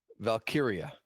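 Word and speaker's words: Valkyria: I don't really have much more to say against Lyra Valkyia.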